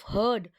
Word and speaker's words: herd: Beware of herd, a dreadful word that looks like beard and sounds like bird.